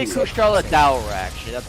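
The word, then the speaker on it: Kushala Daora: It's also not Kushalador, or however they say it. They say Kushala. They say Okay. Kushala Daura, actually.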